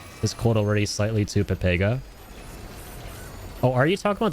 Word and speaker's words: Pepega: No, it's pronounced Pepega.